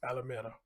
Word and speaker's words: Alameda: alameda i came close alameda that's how it's pronounced alameda okay wow my goodness my goodness that's i